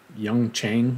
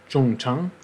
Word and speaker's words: Jung Chang: the author's name, and most of the interviews I watched said something like Young Chang, which, well, she may have anglicized her name, but that can't possibly be very close to the original. From what I was able to find, it must have been something more similar to Zhang Zhong, which an anglicized pronunciation of that would be something more like Zhong Chang.